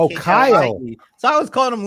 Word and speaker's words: Klie: I was saying, for some reason I saw Len's name as Kile and not Kyle.